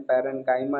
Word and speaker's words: parenchyma: पैरेन्काइमा is simple permanent tissue का पहला type.